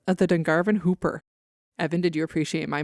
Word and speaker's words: Whooper: have told me that this is pronounced Hooper even though it's spelled with a w but if it turns